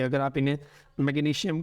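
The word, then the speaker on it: magnesium: इनको सीन के साउंड से भी पढ़ा जाता है और असल प्रोनाउंसिएशंस यही हैं, जैसे मैग्नीशियम, पोटेशियम एंड कैल्शियम। लेकिन हमारे यहाँ एशिया में चूँकि इन्हें शीन के साउंड से पढ़ते हैं तो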